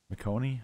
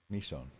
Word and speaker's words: Michonne: How do you say her name again? McConey? Is that what we pronounced this last stream, but I forgot. Is it McConey? I think it's McConey. Hopefully it is. It's not? Michonne? Michonne? Michonne. Oh.